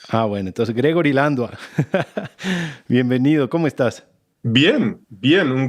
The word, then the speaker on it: Landua: Yo siempre te he dicho Landua, pero últimamente escucho que se pronuncia Landuey. Sí, pero los nombres en español hay que pronunciarlo en español nomás. Bueno, entonces Gregory Landua.